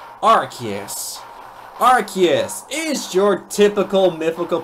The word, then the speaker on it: Arceus: This Pokemon's name has many pronunciations, but the one I'm using is Arceus.